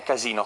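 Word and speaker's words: casinò: does it mean a casino casino with the accent on the o is the place for gambling casino means a courtesan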